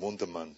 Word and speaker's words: Wunderman: Also, thank you very much, Jim, Wonderman. I call him Wundermann because that's really the right German pronunciation.